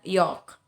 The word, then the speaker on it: yolk: Sama dengan yolk. Ya, yolk. Jadi bukan yolk tapi yolk. Karena kenapa? L-nya ini ada setelah kata O itu.